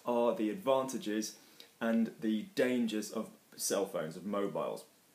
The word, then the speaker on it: dangers: Les avantages, les dangers, fine, we don't pronounce the R, everything is good there.